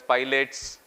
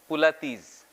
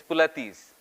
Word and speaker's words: Pilates: It's sometimes called as pilots. It is sometimes called as pilateses, right? But the original word is German. And the pronunciation is pulatis. Pulati. It's not pilots. It is not pulatis. It's pulatis.